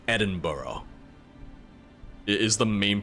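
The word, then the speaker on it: Edinburgh: hear people say it I hear people say it as though it's burrow like edin burough is the main pronunciation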